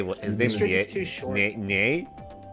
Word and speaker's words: Ye: is this too short yeah I thought I heard nay I'm like what is he a horse no it's it's pronounced ye oh hey look some